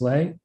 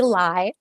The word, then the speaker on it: Lai: I believe I'm passing it to, am I pronouncing this right, Miss Lay? Close. It's actually Lai, but thank you.